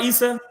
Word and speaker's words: Isa: How did you find, am I saying it right, Issa?